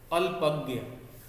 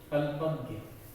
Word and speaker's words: अल्पज्ञ: अल्पज्ञ, उच्चारण पे जरा ध्यान दीजिएगा। अल्पज्ञ, पूरा अ, आधा ल, फिर होता है पूरा प, फिर ज्ञ, अल्पज्ञ।